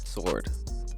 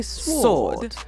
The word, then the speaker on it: sword: it the right way if you go to England how you think they're gonna say it sword no or they're gonna say sword sword I don't think that the W is that prominent you want to ask